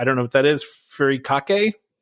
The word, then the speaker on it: furikake: Furikake? Furikake, yeah.